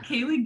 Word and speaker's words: Kaliegh: if you want it's kaylie my name is spelt k-a-l-i-e-g-h it's a weird spelling of kaylee but you can finally